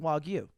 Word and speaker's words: Wagyu: two Wagyu beef pretty good to be it's pronounced Wagyu and three if you ever decide to spend